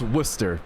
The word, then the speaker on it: Worcester: It's pronounced Worcester, Blaseball post.